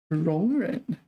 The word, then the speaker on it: 容忍: 容忍. Wow, yeah, second tone to third tone. 容忍. Okay, I'm mispronouncing this one. 容忍. Tolerate, yeah, it's a verb meaning tolerate. 容许忍受. Yeah, 容忍. Second tone, third tone.